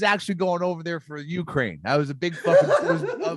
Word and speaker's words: Ukraine: russians i like the way you say ukraine not ukraine ukraine because i always want to say the ukraine so i have to really focus on justice so go ukraine roy hardy's right you say it like youtube you weirdo